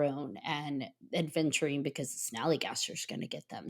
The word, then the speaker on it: snallygaster: I always say it wrong. The snallygaster, and I want to call it the sallygaster. It's a snallygaster.